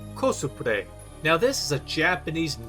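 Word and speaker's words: コスプレ: Cosplay is a Japanese loan word pronounced kosupre.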